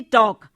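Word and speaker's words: talk: हम दे सकते हैं जैसे टॉक शब्द है टी ए एल के लेकिन हम उसमें एल हमने साइलेंट कर दिया है उसकी आवाज नहीं निकलती टॉक इसी तरह नाइफ में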